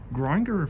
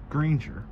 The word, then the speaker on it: Grainger: Grinder for Granger.